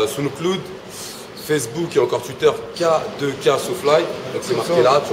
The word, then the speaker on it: K2K SoFly: Donc ça se prononce bien K2K SoFly et pas K2K.